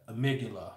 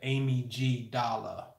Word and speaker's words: amygdala: both sides called the amygdala. I call it the Amy G Dala. That's how it's spelled. A-M-Y, Amy, G, as in God and gangster, Dala, like the Dalai Lama.